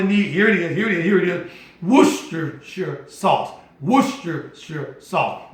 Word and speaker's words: Worcestershire: And then you're going to need, here it is, Worcestershire sauce. Worcestershire sauce. Not Worcestershire, I know we like to call it that, but it's Worcestershire sauce.